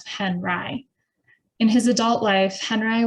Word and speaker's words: Henri: Henri chose a French spelling for his new last name, but the Americanized pronunciation of Henri.